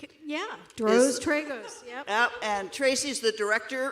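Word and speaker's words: Tracy Droz Tragos: Tracy, is it Drizzen Tragos? Is that pronounced correctly? Yeah, Dros Tragos, yep.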